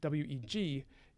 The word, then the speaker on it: weg: road with whey way weg is the ancestor of modern english way w-a-y it's actually pronounced basically exactly the same although it looks a bit different okay anthothoje sumehi fell